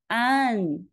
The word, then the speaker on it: an: If you're looking for a reference point, this sound matches well with the female given name an in both the French and the British pronunciations. However, the Chinese AN is different from the American AN because they have two different vowel sounds.